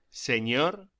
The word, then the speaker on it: señor: La ñ se pronuncia como gn en francés o ni en inglés, como por ejemplo onion. Pronúnciese señor y señora.